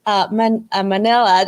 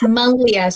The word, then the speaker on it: Manlia: I initially thought it was Manila as well. And then Manlia. And now I now know, I think it's neither. Yes, Linda. So yes, Manlia. So the N is silent in my name.